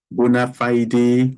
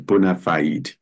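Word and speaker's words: bona fide: or hesitation because it is a matter of bonafide relationship I know some people will pronounce it as bonafied but the pronunciation is Bonafide Bonafide relationship there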